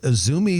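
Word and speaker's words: Izumi: application for remodel um is a business named isumi Sushi and Habachi uh that is isumi is spelled Izu Mii isumi Sushi and Habachi there's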